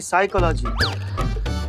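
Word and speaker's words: psychology: करते पिसाई का लागी साइकोलॉजी नहीं साइकोलॉजी प साइलेंट होता है तुम हो जाओ साइलेंट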